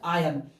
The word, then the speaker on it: iron: जब भी किसी भी AEIOU के बाद यदि R आए तो इस R को हम साइलेंट मानते हैं और नहीं पढ़ते। इस तरह से यह है आयन।